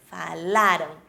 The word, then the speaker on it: falaram: eles falaram gente falaram Imaginem um acento antes da letra R falaram Imaginário né gente falaram